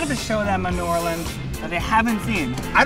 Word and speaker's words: New Orleans: our first time in New Orleans Max it's pronounced New Orleans yeah right what do you expect to get